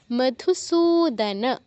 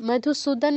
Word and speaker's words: মধুসূদন: আছে তপি ঘতপি মধুসূদন দন্তস নিচে দীর্ঘ উকার আছে তো এখানে দীর্ঘ উচ্চারণ করতে হবে সুদান বলা যাবে না মধুস সুদান বলা যাবে না কারণ ন এর নিচে কোন হসন্ত নেই সুদান পুরোটা বলতে হবে তাহলে কি হচ্ছে এত